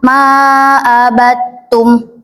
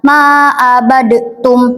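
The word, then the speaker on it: مَا عَبَدْتُمْ: Ada juga dal ke taad ma abadum. Ma abadum. Jadi langsung ke ta. Jangan ma abadtum. Jangan kayak gitu langsung ke sitnya.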